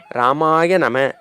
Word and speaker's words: ராமாய நம: 396வது திருநாமம் ராமா உங்களுக்கு தெரியும் அதை எப்படி உச்சரிப்போம் என்றால் ராமாய நம ராமாய நம அப்படி என்றால் மனதிற்கு இனிமை தருகின்றவன் கண்ணுக்கு